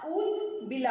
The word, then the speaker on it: ऊदबिला: ऊदबिला, ऊदबिला, ऊदबिला। आपको प्रोनाउंस करना है ऊ, लॉन्ग ऊ करना है, खींचना है उसको, ऊ को, ऊ के साउंड को, ऊ, ऊदबिला, से ऊदबिला।